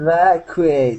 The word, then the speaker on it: evacuate: Vacu evacuate. Evacuate. Evacuate. Okay. I tried. Okay. Right after the C. Right after the C, you want to pronounce instead of a Q. Okay. You want to pronounce a quu.